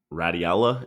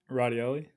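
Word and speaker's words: Radaelli: greatest effects was from Radiella and colleagues from 2015. What is that? Just completely terrible pronunciation? Radioli.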